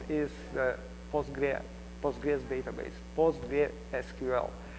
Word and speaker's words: PostgreSQL: the postra POG database postra SQL if it is full name I'm going to use postgress just because it is easier to to pronounce really um by the way you can hear POG SQL which is acceptable name as well so why H it